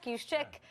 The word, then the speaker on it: Juszczyk: Juszczyk. I can't pronounce it.